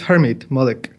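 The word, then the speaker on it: Harmit Malik: a post-doc next with harmeet malik right that is correct am i saying it correctly harmeet or is it harm it it's hermet malik i'll leave malik and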